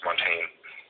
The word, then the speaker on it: Montaigne: And he was like so exasperatedly like frustrated that I pronounced it that way, and so he corrected me and told me it's pronounced Montaigne.